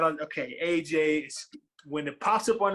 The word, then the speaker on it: Agyei: It's always the pronunciation of the name, right? You hit it right. Hit it right on. Okay, Agyei.